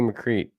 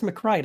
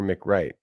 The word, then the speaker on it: McCree: California Idaho Delaware McCree what's going on it's mccrite I think actually mccrite well you know no one said I pronounced everything correctly look she says pronounced Mick Mick Wright a you're Mick Wright as as opposed to Mick wrong we do publish your books